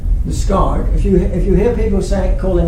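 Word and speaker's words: Liskeard: And this idea that the stress is on the second syllable actually gets extended in speech in Cornish to places of purely English names. So for example, we have Liscard, which is correct because this bit is the qualifier.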